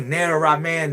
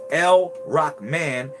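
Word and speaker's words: Ar-Rahman: All right, so when you say or Rahman, Rahim, you're saying it wrong. It's El-Rahman, El-Rahim.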